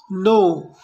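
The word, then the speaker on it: know: नो, नो यहाँ पर के साइलेंट है, राइट, इसको हम सिर्फ पढ़ेंगे नो।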